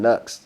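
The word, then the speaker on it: Knucks: And then there's a dude named Nux that has a song called Leon the Professional. Nux is spelled K-N-U-C-K-S.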